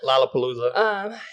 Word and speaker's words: Lollapalooza: So let's just briefly touch on Malia Obama and her dancing at, I think it's pronounced Lollapalooza. Yeah, Lollapalooza.